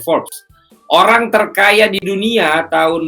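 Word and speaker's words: Forbes: like saya berdasarkan forks pordes ya tulisannya bacanya Force orang terkaya di dunia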